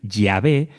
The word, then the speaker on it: Yahvé: Por eso la Iglesia Católica tomó la decisión de utilizar la pronunciación original Yahvé en vez de Jehová, y porque los israelitas del tiempo de Moisés nunca utilizaron el término Jehová.